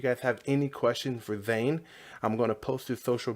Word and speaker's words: Zane: all right we're live so your name is Zane right correct that pronounced that right correct yep alright so vein